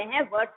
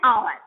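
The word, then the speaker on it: hour: अब देखिए जैसे एन आवर, हम हावर नहीं बोल रहे हैं, एच नहीं निकल रहा, आवर बोल रहे हैं, एन आवर।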